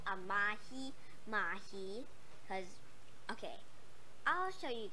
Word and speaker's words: mahi-mahi: Yes, it's called a Mahi-Mahi because, okay, I'll show you guys how to pronounce that. M-A-H-I-M-H-A-I. That's how you pronounce Mahi-Mahi.